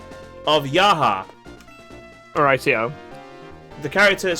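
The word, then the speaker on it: Jaha: of course talking about the fact that the pronunciation of yaha all rightio the character is spelled j a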